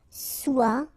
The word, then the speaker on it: soit: Okay, then of course être and avoir, so être will become soit, remember final S is not pronounced, soit, then soyons, soyez, alright,